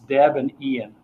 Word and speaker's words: Debian: no really that's bizarre Weiss is called in because it's his girlfriend and his name it's Deb and Ian yeah Deborah Murdock okay